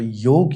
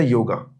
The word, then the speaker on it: योग: तो योग अभी आपसे बात हो रहा था तो योग या योगा सही क्या है वो जो प्रोनाउंसिएशन YOGA योगा, और वैसे है योग, जो कि युज धातु